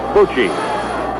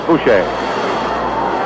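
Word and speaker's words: Bouchee: Coming up to the plate now will be Ed Bucci. He spells his name B-O-U-C-H-E-E. Edward Francis Boucher, or Bucci. I think the pronunciation for his name actually is Boucher.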